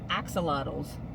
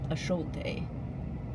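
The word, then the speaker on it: axolotl: These are uh earrings and they're little teeny tiny glass axelottles or I guess the Mexicans pronounce it ashalt something like that. I know we pronounce it wrong, but I thought these were so cute and they're like glass, right?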